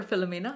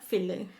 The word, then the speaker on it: Philly: oh you're very welcome would you like to be called Philly or Fila Philly Philly okay great my name is fil in Italian is the pronounce is Fila Fila yeah but it's so heavy I didn't like it